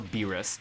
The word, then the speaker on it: Beerus: getting so confused about how to pronounce or even you know spell Lord beerus's name because he sometimes spelled like b i l LS as like bills but I'm pretty sure his name's not bills like it's beerus they